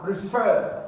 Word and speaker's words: refer: I said earlier on so you have refer refer is it a now or it's a verb of course refer is a verb so you're going to have to stret the second syllable so you say Ray and then you have F refer option b